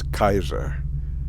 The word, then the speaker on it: Caesar: son of Caesar and the Latin pronunciation of Caesar is Kaiser and if you've if